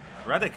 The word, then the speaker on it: Rádek: Rádek, am I pronouncing it right?